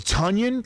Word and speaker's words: Tonyan: know games are important so it's tonyan like runs with didn't right hackers pr actually used that as the example yes they did onion right like funyuns one of the greatest